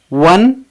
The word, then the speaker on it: one: ONE वन, इसे ओन नहीं पढ़ेंगे, क्योंकि यहाँ पे ओ का साउंड व है।